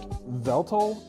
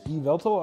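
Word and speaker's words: Yveltal: It's like Veltal, E-Veltal. I don't know if that Y is silent.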